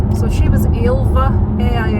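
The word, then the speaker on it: Ailbhe: So, she was ilva.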